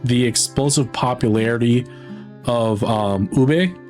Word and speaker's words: ube: But I also don't blame him because like the way that it's that you read it and pronounce in the English language is technically ub.